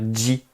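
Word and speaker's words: じ: ceci, chi va devenir ji, ji. Alors, en termes de prononciation, c'est comme si vous rajoutiez un D devant le J, ji, ji. Mais le D, on ne l'écrit pas. Ji.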